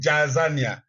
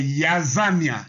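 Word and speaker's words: Jaazania: Bon, en lisant en français, on dit Jazania, mais la lettre Y n'existant pas en hébreu, s'il vous plaît, c'est Yazania.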